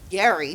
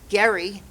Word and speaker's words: Gerry: he was no menace Elbridge Gerry but we got lazy and we started using the soft G a hundred years later Eldridge Gary became our fifth vice